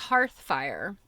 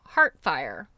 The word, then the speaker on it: hearthfire: Another of my beloved but butchered words was hearthfire. I completely ignored the H and for me it became heartfire.